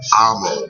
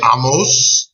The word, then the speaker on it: Amo: It is the Amosphere, and I pronounce my name Amo with a long A. Amo. Okay, cool. So how did I pronounce it? I said Amo, right? You shorten the A a little bit. Ammo.